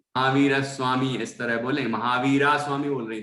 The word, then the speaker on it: महावीर: बाकी आपने महावीर स्वामी बोला तो मैंने कुछ टोका नहीं, क्योंकि उच्चारण तो सही ही है। बाकी यदि महावीर स्वामी इस तरह बोले, महावीरा स्वामी बोल रहे थे कोई, महावीर है ना, महावीर